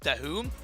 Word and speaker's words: Dahoom: It's pronounced Dahoom. Apparently. Our resident legend, Sandstorm himself, who is casting the Arabic language, shout out to you, my friend. He cleared up for me and told me how it's pronounced.